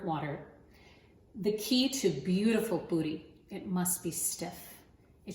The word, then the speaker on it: Poori: Poori is spelled P-O-O-R-I or P-U-R-I.